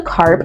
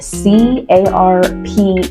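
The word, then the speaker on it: Carpe: not sweat you don't look into carp and it's spelled c a r p e like look into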